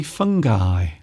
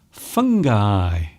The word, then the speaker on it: fungi: are using the plural, you say fungi, fungi. And you might notice here, I've actually made sure that the eye is more apparent. So there it is. You see? Can you see it? The letter I. Fungi.